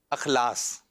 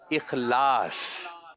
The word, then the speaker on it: اخلاص: کچھ لوگ کہہ دیتے ہیں اخلاص. ٹھیک ہے. اور صحیح جو تلفظ ہے جو بولا جائے گا وہ ہے اخلاص.